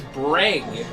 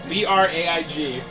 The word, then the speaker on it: Braig: Ah, the original name is Braig. B-R-A-I-G.